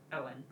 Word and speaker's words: Eoin: Apparently pronounced Owen.